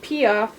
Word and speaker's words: Piaf: This is Piaf, pronounced Piaf.